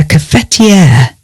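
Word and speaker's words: cafetière: And you might use a coffee machine for your coffee, but we use a cafetiere.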